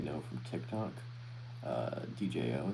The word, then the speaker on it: Djo: Uh, DJO is how it's pronounced.